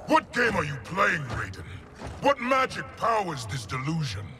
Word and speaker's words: Raiden: And of course, Raiden. I know it's Raiden instead of in a Western term, but in Japanese it's pronounced Raiden. So just bear with me, okay?